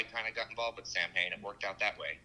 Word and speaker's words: Samhain: He's like, it's pronounced Samhain.